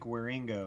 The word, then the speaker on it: Wieringo: you're talking about Mike wieringo yeah Ringo Ringo that's how you say it yeah he did the he